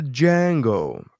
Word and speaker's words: Django: table that um ah the django um damn the d is silent um uh dave what